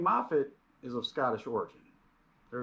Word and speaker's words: Moffatt: But it's actually pronounced Moffat.